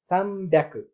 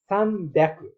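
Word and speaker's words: 三百: अब यसलाई उच्चारण कसरी गर्ने त भन्दाखेरि सामड्याकु। यसमा चाहिँ 3 को ठाउँमा चाहिँ सान ह्याकु जना नभएर सान ह्याकु जना ते सामड्याकु, सामड्याकु। यहाँ हिको माथि टेन लगाएर बी बनाएको छ अनि त्यसपछि स्मल या राखेर अनि सामड्याकु, सामड्याकु भन्ने अरु भन्दा जस्तै नि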